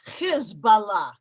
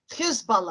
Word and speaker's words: Hezbollah: And by the early 1980s, that organization coalesced and became known as Hezbollah. By the way, pronounce it Hezbollah, because Hizb in Arabic means party, Allah means God, party of God.